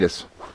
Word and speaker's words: Pilatus: But the bigger question I have for you is, and I want to make sure I pronounce his name right. Rob Pilatus. Is that right? Pilatus.